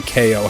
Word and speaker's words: Keio: I've been saying this game more like Kyo Kusanagi rather than Keio, how it's actually pronounced.